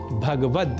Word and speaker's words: भगवत: पर श्रीमद् भगवत गीता इसमें भगवत पद में ग का से संयुक्त अ स्वर का हम लोप कर देते हैं और कह बैठते हैं भगवत जबकि शुद्ध उच्चारण भगवत ही है यह तो थी